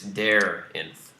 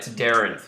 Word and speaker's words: Daarinth: And for the record, it's Daarinth. Well, I mean... not Actually, my. last name is spelled with double A, and it's pronounced A.